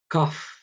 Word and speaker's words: cough: Cough, así se pronuncia esta palabra. Cough, toser o tos.